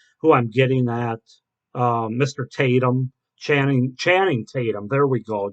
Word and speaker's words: Tatum: Um, yeah, that's Jenna Dewan, who was married to Chatham. Okay, I can't pronounce his name, but I think you know who I'm getting at. Mr. Tatum, Channing Tatum.